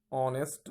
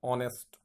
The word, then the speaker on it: honest: Okay, my father is an honest man. Okay, let's look at the word honest. We will not pronounce this word honest. No, it is wrong, because h will be silent here.